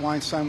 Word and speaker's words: Weinstein: Weinstein will be acquitted of these charges. Did he say Weinstein? Like rhymes with Frankenstein?